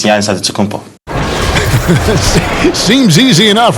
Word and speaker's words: Antetokounmpo: But in the Greek way, you say with the NT, like Antetokounmpo. Whatever you got, just say, it's Giannis Antetokounmpo.